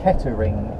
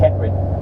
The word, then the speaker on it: Kettering: kettering now kerry well if you were to pronounce every letter it would be kettering if you're from this area it's keplerin where where did